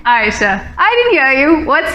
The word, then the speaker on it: Ayesha: My name, Aisha, is derived from the Arabic word Aish. So technically the pronunciation is Aisha.